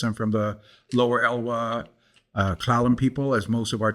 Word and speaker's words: S'Klallam: I'm from the Lower Elwha S'Klallam people. As most of our tribes know, our names are usually mispronounced by the English speakers. And so they took the name S'Klallam and it became S'Klallam.